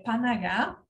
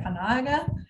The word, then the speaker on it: Panaga: O nome da ONG é Panagá, né? Na verdade, a pronúncia é Panaga, é um termo em Dari, né?